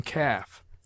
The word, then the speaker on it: calf: L is sometimes mute, as in calf, half, halves, calves, could, would, should, psalm, talk, salmon, falcon.